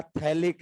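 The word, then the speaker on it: phthalic: इसका नाम होता है बेटा थैलिक एसिड। पीएच इसमें भी क्या है? साइलेंट है।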